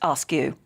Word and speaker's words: Askew: Sean says, our surname is Askew, pronounced Askew.